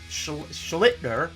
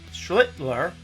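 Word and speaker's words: Schlittler: Up next from the New York Yankees, the rookie just got promoted, had his debut yesterday, Cam Schlitner, Schlitler, as I mispronounced it, rostered already in 21% of leagues.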